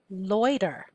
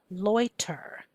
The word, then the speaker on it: loiter: Number 13, loiter, loiter. I'm actually saying this in a normal speech, but if I say it a little bit clearer the way it's spelled, it would be loiter, loiter, l-oi-t-er.